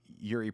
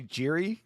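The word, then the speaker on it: Jiří: How do you pronounce Yuri Prohaska? Do you say Jiri? Because that is not correct.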